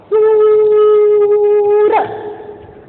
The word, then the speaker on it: सुर: बढ़ाऊ की मात्रा, हम इसका उच्चारण कैसे कर रहे हैं देखो, सूर, और इसका कैसे कर रहे हैं, सुर।